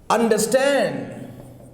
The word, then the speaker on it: understand: So for compound verbs, stress is on second part.